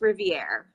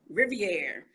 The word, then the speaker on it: Riviere: Your last name is Riviere, correct? Am I saying it right? Well, I'll answer to anything, but it's pronounced Riviere, like with a Riviere, silent E at the end. Yeah. Riviere.